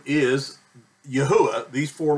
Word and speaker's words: Yahuah: that is not his name his name is Yahweh these four letters here if you were reading